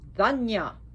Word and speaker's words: Dhanya: Now there's another one, it's spelled different and pronounced Dhanya, Dhanya.